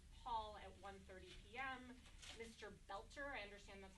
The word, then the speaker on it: Boelter: Boelter, I understand that's how you pronounce it, will be making his initial appearance